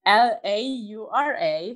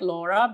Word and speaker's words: Laura: can spell it it's l-a-u-r-a so it's just like laura but because i'm originally from italy i say laura and then my last